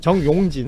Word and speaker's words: 정용진: 정용진.